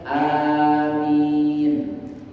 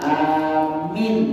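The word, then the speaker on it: آمين: Jadi alif ini dipanjangkan amin. Mimnya tahfif, artinya mimnya itu tidak ditekan, bukan amin, dah. Amin. Ya, amin. Ya. Itu yang pertama. Pendapat yang kedua, cara membacanya. Wataniyah bil qasir, bil qasri. Amin. Jadi kalau tadi amin, kalau ini amin. Dua-duanya ini boleh. Jadi kita membaca amin atau amin. Dua-duanya boleh. Paham kan?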